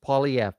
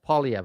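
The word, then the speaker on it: Poilievre: Jim is Jim is uh Jim Jim has just written how it is pronounced. Polyv. Polyv.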